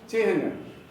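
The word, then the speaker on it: चिह्न: चिन्ह, चिन्ह नहीं। सब लोग चिन्ह ही बोलते हैं, लेकिन उसका सही उच्चारण है चिन्ह। ह में ना लगा हुआ है।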